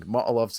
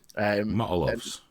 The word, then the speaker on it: Molotov: It's just like they're just going, like for them, 10% is a number so high that they are literally throwing Molotovs at their own feet. Motolovs.